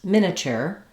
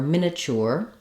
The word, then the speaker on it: miniature: the standard pronunciations um first of all you can use three syllables miniature or miniature or you can use four syllables miniature miniature I think an